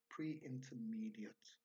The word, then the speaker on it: pre-intermediate: It's not pronounced ate, it's pronounced ut, pre-intermediate.